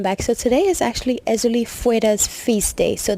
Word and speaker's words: Erzulie Freda: so today is actually euli freda's feast day so the proper way to say her name is euli fra that's how you say it in K but she is a